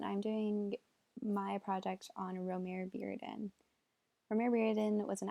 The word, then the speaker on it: Romare Bearden: he created the Bearden the Remora Bearden or I just announced his name wrong I am so sorry romare bearden foundation to help educate